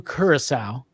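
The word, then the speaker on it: Curaçao: want to let you know that it is pronounced blue curacao i'm sure other people let you know that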